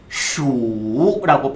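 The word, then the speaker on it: 鼠: 일단은 발음 먼저 한번 해볼 건데 쥐는 슈라고 표현을 하셔야 돼요.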